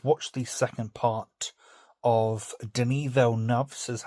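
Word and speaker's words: Denis Villeneuve: I've watched the second part of Denel says actually how you pronounce his name, not Dennis Velu.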